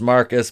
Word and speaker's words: Marquise: of black joker aka marquise pronounced marcus because he's [ __